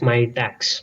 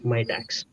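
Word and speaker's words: Mitacs: by me tax yeah my tax how do you pronounce that yeah it's my tax my tax oh sorry the entire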